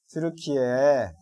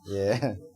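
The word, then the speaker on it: Türkiye: 트루키에 트르키에 예 그렇죠. 이름을 바꿨죠. 자, 트루키에라고 발음하겠습니다.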